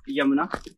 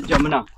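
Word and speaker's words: Jamuna: इट्स नॉट यमुना, इट्स जमुना, local people कुछ ऐसे ही इसको प्रोनाउंस करते हैं।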